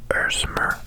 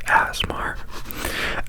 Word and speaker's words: ASMR: there's our this is the genre of ersmer or asmar or arikatica makatiki dmr people have different pronunciations apparently and we welcome all of them except for asmar that sounds like an illness nobody should have okay um i'm losing track i'm